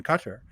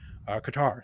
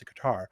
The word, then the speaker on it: Qatar: friends in doha in qatar qatar some people pronounce a guitar i have friends in